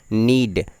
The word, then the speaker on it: knead: जैसे आटा को जब हम लोग गूंथते हैं तो इसे इंग्लिश में बोलते हैं नीड। इसकी स्पेलिंग होती है KNEAD।